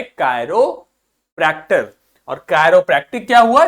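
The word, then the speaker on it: chiropractic: जब भी आई के ऊपर आपको इस प्रकार से कैप लगी दिखेगी तो इसका प्रोनाउंसिएशन आई होगा, और जब कोई कैप नहीं लगी दिखेगी तो उसका प्रोनाउंसिएशन ई होगा। ठीक, तो ये हो गया कायरोप्रैक्टिक।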